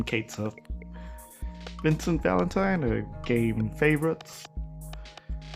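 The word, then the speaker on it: Cait Sith: as a DLC character, Kate Sith or Kachi, however you want to pronounce it, but the game calls him Kate Sith.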